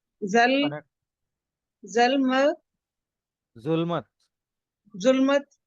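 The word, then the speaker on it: ظلمت: आगे ते आ गया और जुल्मत है जे के ऊपर ये जो के ऊपर पेश आया जुल्मत जो राइट से हां अगली लाइन मैंने किसको बोली थी?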